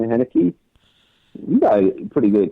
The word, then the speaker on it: Heinicke: Well, talking about Washington football team, I mean, their quarterback Paylor, how do you pronounce his last name? Heinicke.